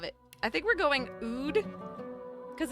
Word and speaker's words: oud: I guess we could do an ode. Is that what it's called? An ode. How do you pronounce that? O. Oud. Okay, now I know. Oud.